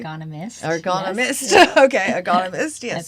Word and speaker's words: ergonomist: Can you tell us a bit about that role and what an ergonomist does, and if I'm pronouncing that correctly. Ergonomist.